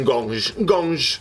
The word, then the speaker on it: Ngonge: è come si pronuncia perché sento un gonge e non è Gong ma dovrebbe essere così ciril Mon cil Mon Sì Gong Gong perché belga perché ha